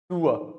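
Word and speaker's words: sewer: In Hindi you might say इट सीवर line, but in English it is pronounced सूअर, British सूअर, American. तो हिंदी वाला सूअर होता है ना, वही साउंड आता है इसकी, सूअर लाइन, सूअर लाइन।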